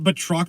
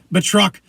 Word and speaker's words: Batroc: That's why I always say his name is not Batroc the Leaper. It's Batroc the Leaper.